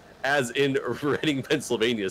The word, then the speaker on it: Reading: But yeah, for the many years, I always thought it was Reading Railroad, and when I found out it was Reading, my mind was blown, and I was like saddened.